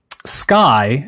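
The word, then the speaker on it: Skye: contemporary sort of tone sky as in s KY e is one of those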